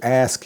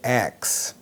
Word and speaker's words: ask: But a lot of times people will say ax. I need to ask you a question. Hey, I need to ask you something. And that's not correct. So the correct pronunciation is ask, A-S-K, instead of axe, A-X-E.